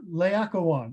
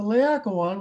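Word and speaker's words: Laocoön: of this famous sculpture the lawyer layakawan oh man i mispronounced the aqua one you're going to take away my phd here um the liakowan which is in the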